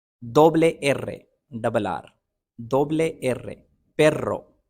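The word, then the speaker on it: erre: या यू और आई के साथ आता है एरे एरे आर को कहते हैं रेगा लो डबले एर डबल आर डबले एर पेरो एसे एस को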